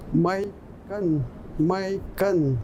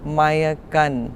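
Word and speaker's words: mahihkan: my gun is that in other territories it can have an extra little syllable like maya gun or maya yeah and so let's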